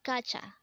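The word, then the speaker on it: 가자: Again, this is pronounced as kacha, and this is used to say, let's go in an informal manner.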